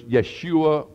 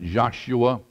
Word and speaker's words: Yeshua: win the argument Jesus name in Hebrew was Yeshua or we sound we pronounce it Joshua uh it meant savior Joshua means savior Yeshua